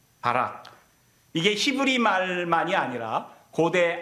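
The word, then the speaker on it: ברך: 이렇게 단어가 쓰여 있는데 이걸 바이라고 읽어요 바락 복을 주다는 뜻이에요 바락 이게 히브리 말만이 아니라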